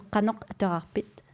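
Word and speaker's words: Qanoq ateqarpit: So in West Greenlandic Kalaallisut, it would be Kanok Atterarpi. Yeah. Yeah, and you pronounce it T at the end, so Kanok Atterarpit.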